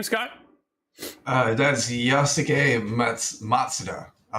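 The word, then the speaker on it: Yosuke Matsuda: That's Yasuke Matsuda.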